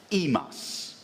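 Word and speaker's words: ἡμᾶς: underlined in Greek and would be pronounced by this time already as imos so he loved us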